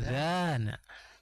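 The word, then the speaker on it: الأَذَان: Apakah huruf 'a' panjang atau pendek? Ini singkat, Ustaz. Pendek. Ya. Sami'tumul-azan. Azana. Azan memiliki huruf 'a' pendek. Azan. Azan. Jika huruf 'a' diucapkan panjang, maka menjadi adzan.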